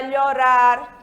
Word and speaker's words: llorar: Já o LL, ele é pronunciado como se fosse LH, lluvia, rodilha, llorar, tá certo? Então, quando a gente tiver a junção de dois L's, a gente pronuncia como o LH de língua portuguesa.